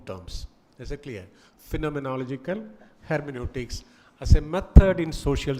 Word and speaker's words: hermeneutics: That's how you pronounce it, hermeneutics, phenomenology.